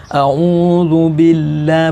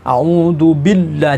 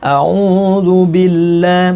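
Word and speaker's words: أعوذ بالله: jangan-jangan cepet ini tuh Yang benar halus-halus saja Audzubillah bukan audzubi Ndah jangan terlalu karena lafadz Allah di sini didahului Arogan khas roh jadi bacanya tarqiq agak tipis Jangan dibaca terlalu tebal Hai toppingnya juga jangan terlalu tebal jadi bacanya Audzubillah bukan audzubi tdah jangan Hai kemudian dalam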